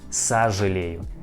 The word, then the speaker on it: сожалею: о, yes, о, but we pronounce this word like а, сожалею, сожалею, not сожалею. We pronounce like сожалею, сожалею.